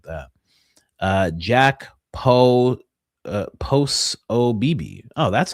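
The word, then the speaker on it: Posobiec: Uh Jack Po uh post OB. Oh, that's how it's pronounced.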